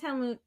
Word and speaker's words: Helmut: That sounds good, Helmut. Am I saying that right? Yeah, he wants to be called Helmut because that's how you pronounce it. Okay. Yes, Helmut.